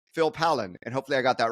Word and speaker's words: Pollan: And Phil, you know, usually before I start recording, I ask you for the correct pronunciation of your last name, but I'm going to say Phil Palen.